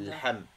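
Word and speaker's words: لحم: L'ham, avec le H qui est expiré dans la gorge. L'ham. El ham. L'ham, pas L. Juste l'ham.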